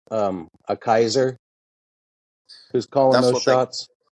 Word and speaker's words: Caesar: of Celtic so is Caesar guess how you pronounce Caesar correctly Kaiser Caesar Kaiser oh Kaiser